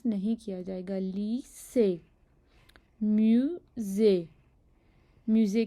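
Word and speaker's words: lycée: जैसे कि लफ्ज़ लीसे, लीसे, म्यूज़े। अब यहाँ पे देखें, जो लीसे के आखिर में प्रोनाउंस हो रहा है, लीसे ए प्रोनाउंस हो रहा है, नहीं हो रहा। ये वाला प्रोनाउंस नहीं हो रहा, ये प्रोनाउंस हो रहा है जिसके ऊपर एक्सेंट है, और इस एक्सेंट को ए पढ़ते हैं, इसलिए हम इसे यहाँ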